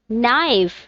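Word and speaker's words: knife: First word is not, second one इज नाइफ. इन दोनों में ही के साइलेंट है.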